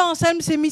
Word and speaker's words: Anselme Semi: Tonton Anselme Semi, c'est comme ça qu'on prononce?